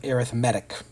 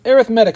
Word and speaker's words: arithmetic: like the word arithmetic it's spelled the same way as arithmetic but one is used in this way as a descriptor for sequences in series we call them arithmetic so that's a pronunciation thing arithmetic sequences an arithmetic